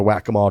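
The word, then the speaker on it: Waccamaw: Here's how you say it, and then I just forgot to write that down. The Whack-A-Mole Trail.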